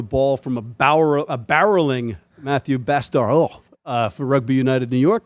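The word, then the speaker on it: Bastareaud: pronounce his name because actually it's Matthew Bastaro. Bastaro. So it's not Matthew Bastaro. Not Matt the Bastard. Not Matthew Bastard.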